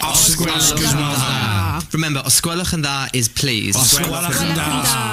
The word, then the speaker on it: os gwelwch yn dda: Remember, osgwelwch yn dda is please. Osgwelwch yn dda. Is please. Yes. Osgwelwch yn da. Osgwelwch yn dda. Osgwelwch yn da. Dda o da? Osgwelwch yn dda. Oh, it's dda.